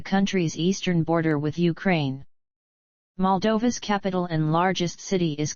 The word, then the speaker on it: Moldova: Moldova, mol-D-OH-və, sometimes UK, mol-D-və, Romanian pronunciation, officially the Republic of Moldova, is a landlocked country in Eastern Europe.